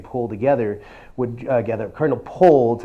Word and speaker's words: Pole: Cardinal Pole, that's how it's spelled, but in the 16th century English, it's actually pronounced Poole.